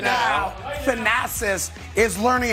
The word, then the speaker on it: Thanasis: You may know this, that Giannis Antetokounmpo has a brother named Thanos, right? Yeah. I think that's how you say it, right? Thanasis. How do you say it? Thanasis.